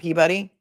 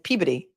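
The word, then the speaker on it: Peabody: Because the other day when I tried to pronounce pee, which you guys are telling me is peey and not peebody.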